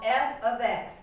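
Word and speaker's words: f(x): put in your blank we use a special notation called f ofx that's how you say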